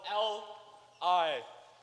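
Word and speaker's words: Lin: That's Representative, spelled L-I-N. It rhymes with win, which is what the negation is going to be doing by the end of my speech.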